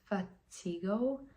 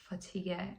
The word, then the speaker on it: fatigue: So I just pronounced it like it looked fatiggo. I didn't understand why the whole class including a teacher instead of burst out in a burning laughter. The word was fatigue. And I'm 54 and still